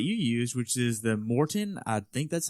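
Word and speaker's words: Maurten: And I've been hearing more and more about your nutrition that you use, which is the Morten. I think that's how you say it. Marten, yeah.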